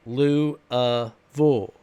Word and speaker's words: Louisville: Louisville no it's it's not pronounced Louisville it's pronounced loo bull Louisville that's that's how we pronounce it Louisville